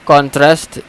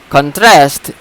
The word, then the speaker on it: contrast: example the word contrast the word contrast is contras is a noun and contrast is a verb so why is it different because we give stress in if we give stress in the first syllable it becomes noun noun meaning and if we give a stress in the second syllable it becomes the a verb so contrast is a